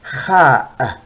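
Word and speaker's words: خاء: So we say Khaa, Khaa, Khaa. Now I have to make it clear, so I say Khaa, but the letters is pronounced as Khaa. Very soft at the end.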